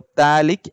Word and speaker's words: phthalic: this term as pH, phthalic acid. Okay, pH. So here pH is silent. So phthalic acid.